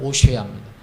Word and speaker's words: 호세아: 그래서 여기 정탐꾼의 이름이 나오는데, 이게 모세가, 이게 민수기 13장 16절에 보면 모세가 호세아를, 여기 호세아를 발음 나는 데로 하면 오쉐아입니다.